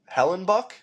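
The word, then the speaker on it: Hellebuyck: And then a amazing night for Connor Helen Bike, Helenbuck. I think that's how you say it. It's Buck, but with a Y in between the U and the C.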